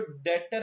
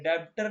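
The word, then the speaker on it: debtor: ये जो डेटर है इसमें बी साइलेंट है। डेप्टर नहीं पढ़ते इसको। डेटर होता है ये।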